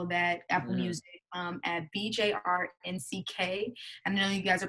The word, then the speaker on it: BJRNCK: that, Apple Music, at BJRNCK. I know you guys are probably like, what the hell does that mean, or how do you even say it? But it's BJRNCK.